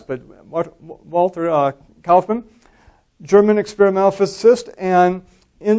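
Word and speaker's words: Kaufmann: of uh Walter cman who was actually spelled with only one F uh many times you say it with two FS but Walter uh calman German experimental physicist and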